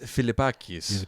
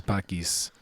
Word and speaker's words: Philippakis: Yannis Yannis Philippakis. Philippakis from Yannis Greece.